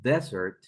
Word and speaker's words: desert: word this is Desert if we pronounce it desert that's a place it was a dessert